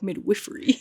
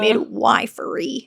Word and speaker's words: midwifery: But I do like midwiffery. I don't know. I think midwiffery is like the British pronunciation and then midwifery. Miffery is the American pronunciation.